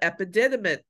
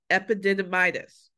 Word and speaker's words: epididymis: a firm uh sperm containing cysts of the epididymis I'm still pronouncing that wrong epididymitis no epididymis you see the word guys you